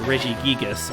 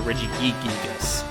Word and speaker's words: Regigigas: there like that - there's a Jason for pokémon called regigigas and I used to have a friend who would call Reggie geekiness and like no it's only gigas once the Pokemon pronunciations always